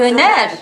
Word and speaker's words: Döner: Dona. Is that how it's Turkish pronounced? Döner. I don't know.